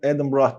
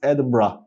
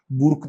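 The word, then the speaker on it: Edinburgh: Burada Duke of Adam Brak bunu Adam Brah diye okunuyor. Bunu da hemen notlara alalım. Bu dünyada bunu doğru telaffuz eden çok sınırlı sayıda insan var. Şu anda onlardan bir tanesisiniz. Adbrah diye okunuyor. Burk değil yani.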